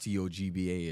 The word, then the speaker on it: Toba: My last name is actually Toba, pronounced Togbah. It's a native Liberian name.